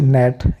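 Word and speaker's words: gnat: वह साइलेंट हो जाएगा जिस तरीके से नेट यहां पर जी एन से पहले आ साइलेंट हो गया नेट का मतलब पिशु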